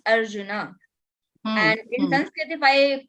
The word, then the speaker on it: Arjuna: clarify let me clarify in Sanskrit it is not Arjun that is Hindi pronunciation in Hindi we say half bird Ram that is not Ram that is Rama that is Arjuna and in Sanskrit if